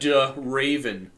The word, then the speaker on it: Draven: like off because like they'll say D Raven and they'll pronounce like the D like completely and I'm just like no like it's Raven with the duh in front of it.